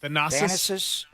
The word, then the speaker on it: Thanasis: How do you pronounce the other guy's name? Thanasis.